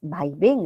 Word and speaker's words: vaivén: aguas vaivén es policía tiene que haber una sílaba tónica y la sílaba tónica es ven no va y ven ya sería aguda que termine en N le falta la tilde en la B hablaba como si estuviese